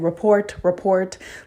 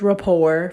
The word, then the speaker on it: rapport: Like I kept you saying report, like thinking I was so smart. And you know what? I did get the job, but then I found out I was mispronouncing it wrong. Like how freaking embarrassing. So yes, it is rapport for y'all that don't know.